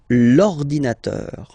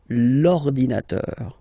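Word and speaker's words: l'ordinateur: you can see that it start with the vowel o okay and as I said you know uh and o they don't get along that well so you've got to take this uh away and then you get this lordinator lordinator all right and third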